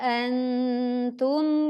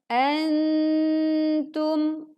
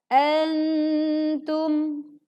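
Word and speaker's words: أنتم: Kemudian antum, ya, sempurnakan dengung saat nun sukun bertemu dengan ta. Jadi tidak dibaca tergesa-gesa menjadi antum. Yang betul adalah antum.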